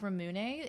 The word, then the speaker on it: Ramune: Or like Ramune is called that because it's the English word lemonade but pronounced with a Japanese accent.